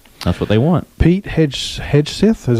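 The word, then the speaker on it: Hegseth: back in right that's what they want Pete HED hedg is how you say his name HTH defense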